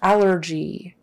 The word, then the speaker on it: allergy: right okay and then allergy allergy stress is on the first one the first syllable allergy allergy allergy what